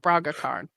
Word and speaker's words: Braga Khan: It sounds like that, how that's spelled. Braga Khan.